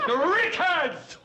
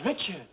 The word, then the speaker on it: Richards: Rickards! You said Rickards! I don't get your point, Murr. Her name is Richards.